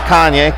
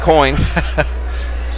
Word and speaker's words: Coyne: Not Kanye. Coyne.